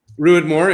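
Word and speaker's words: Ruadh Mòr: It's funny what Aaron just said, because mentioning Single Cask Nation, because we had their Rodmore, is that how you pronounce it? Yeah, Ruidmore, yeah.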